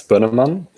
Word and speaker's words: Bönnemann: It's Benamon, but you can totally just Yeah, you can pronounce it however you like. It's not the It's not very compatible with um English languages.